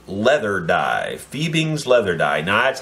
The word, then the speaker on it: Fiebing's: so you don't miss it this time it's fiebing's leather die fiebing's leather die nights how I pronounced it fi e bi NGS leather die